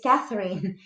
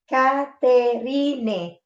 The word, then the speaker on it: Catherine: Mi nombre es Caterine and my name is Catherine in English. See the difference? All the people write my name in this spelling. Caterine. And they not pronounce it as Catherine.